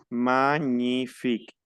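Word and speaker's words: magnifique: la n magn magnific cuando yo veo una G y una n no tengo por pronunciar la g y no tengo por pronunciar la n porque la g y la n se transforma en una eñe ahí ya no existe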